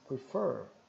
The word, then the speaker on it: prefer: frente alongado e então como o stress tá aqui na segunda sílaba então a segunda sía seria mais forte prefer I prefer cfee né